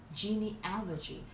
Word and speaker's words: genealogy: questions with this word genealogy the Strat you put on the third syllable genealogy it means the stud